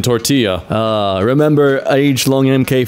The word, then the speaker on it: tortilla: Taylor Swift makes music for people that pronounce the L's in tortilla.